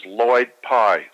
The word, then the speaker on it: Lloyd Pye: One is Lloyd Pye, spelled with 2 L's, L-L-O-Y-D.